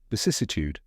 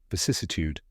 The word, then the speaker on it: vicissitude: down step by step V like the beginning of vicious sis rhymes with a